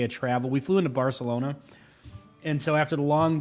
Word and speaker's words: Barcelona: Oh, Barcelona. I think it's actually you're supposed to say Bartholona like with the th. But I don't know. We We don't say that with our American accent.